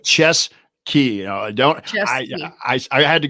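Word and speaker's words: Ciezki: thank you ches Sky it's almost like chess key don't I I had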